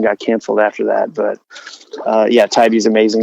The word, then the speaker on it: Tybee: But my next question was going to be, how do you pronounce that? Because I've seen it on your posts like Tybee. I don't know. Yeah, Tybee.